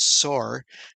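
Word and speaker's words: צֹר: And of course, the word in Hebrew is pronounced Sor. Um, so here Hiram, Melech of Sor, and he sent messengers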